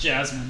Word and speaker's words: Jazmine: out on accident would be jaming Jasmine it's pronounced Jasmine shut up stupid okay I thought you maybe